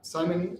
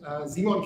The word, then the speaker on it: Simon: wireless that's me yeah simon zeemon kemper that's how you pronounce it in german i always pronounce it english way i am the ceo